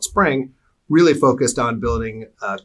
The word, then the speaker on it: Xpring: So now, bring this full circle and to your initiative called Spring, or spelled XPRING, but Correct. pronounced Spring if I have it correctly.